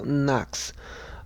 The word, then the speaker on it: NOx: Rhymes with LOX, FOX, and SOx, so NOx.